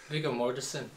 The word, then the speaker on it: Viggo Mortensen: I gotta stop calling him Viggy, but I'd rather call him Viggy than pronounce his name badly. Viggo Mortensen.